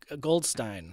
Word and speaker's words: Goldstein: Museum or um uh Goldstein yeah rhymes with design I always have to do that in my head instead of Goldstein Goldstein Museum of design it's on